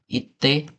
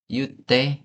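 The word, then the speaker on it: 言って: Ini kalau kondisi realnya, orang Jepang itu nggak bilang iyu. Jadi kalau seandainya mau merintah seseorang ngomong, bukan ite, bukan kayak gitu. Tapi you, kayak gini. Kalau sesuai pelafalan, ngomongnya kayak gini. Jadi kalau seandainya kita mau nyuruh seseorang buat ngomong sesuatu, bukan ite, tapi yute, kayak gini.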